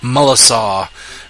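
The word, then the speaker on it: Melancon: thing to it so what reads in English melan con uh with that little French cage and is msaw so uh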